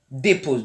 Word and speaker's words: dépose: Voilà, après tu as dépose. Donc il y a déjà pause, donc on sait déjà faire pause, mais il y a dépose. Donc c'est dépose. Le E, il faut qu'on le prononce légèrement.